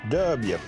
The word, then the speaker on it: Dubya: W. W. Yeah, D-U-B-Y-W. That's how we say it. That's how you say it in Texas.